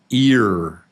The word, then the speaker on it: ear: It's ear. So that's a long E. Ear. Ear. Ear. Yeah, it's just the A is silent. We don't say the A.